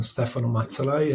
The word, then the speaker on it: Stefano Mazzalai: handle is just uh first and last name Stefan matai I think that that would be that would